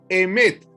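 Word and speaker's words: אמת: En el hebreo, la palabra verdad se se pronuncia emet.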